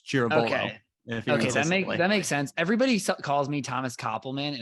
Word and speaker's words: Ciravolo: It's Ciravolo, actually. And in Ciravolo. Italy, they really announce the vowel. So it's Ciravolo.